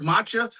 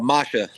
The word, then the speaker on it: Masha: Because I heard Matcha, but then I thought I heard Misha. No, Masha.